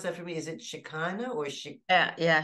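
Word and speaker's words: Shekinah: a crown of stars she is can you pronounce that for me is it shakana or sh yeah yeah shakina the Holy Spirit and the revealer of the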